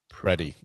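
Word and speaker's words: Pretti: It's not Pretty. It's Pretty. Pretty.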